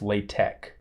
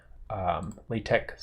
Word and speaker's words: LaTeX: but it's actually pronounced the x is actually pronounced as a k so it's latex latex source for this file